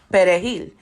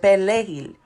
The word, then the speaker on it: perejil: Now, a Dominican who speaks Spanish pronounces perejil. A Haitian who speaks Creole will pronounce it pelejil. So the only difference is an R and an L.